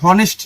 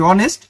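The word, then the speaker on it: honest: তুই হনেস্ট না তুই অনেস্ট।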